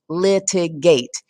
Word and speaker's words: litigate: litigate has three syllables litigate it means to use a legal process the stressed syllable in the word litigate is the first syllable as this little apostrophe shows us litigate the word contract has